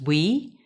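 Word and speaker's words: WEEE: category is waste electrical and electronic equipment often pronounced as we and also called e-waste apart from potentially valuable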